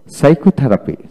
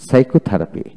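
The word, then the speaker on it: psychotherapy: তারপরে সাইকোথেরাপি, সাইকোথেরাপি।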